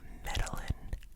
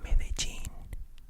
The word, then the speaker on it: Medellín: So it is not Medellin, okay. Okay, back to the travel vloggers that I've been listening to. Guys, I almost fainted when this American couple said they went to Medellin. What? Medellín. This, this accent here, so the stress is there.